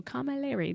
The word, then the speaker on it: Camilleri: Camilleri. Oh, Camilleri. They give you a pronunciation thing right here next to her name.